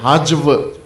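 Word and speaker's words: هجو: لیکن جو اردو پڑھتے پڑھاتے ہیں غلط تلفظ کرتے ہیں, حجو نہیں ہے, حجو. اس لفظ کا تلفظ مد اور حجو.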